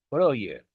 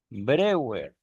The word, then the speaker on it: Breuer: vamos a empezar el periodo bryer brewer como ustedes gusten llamarlo después de todo digo brer tratando de adaptar la pronunciación como igual no digo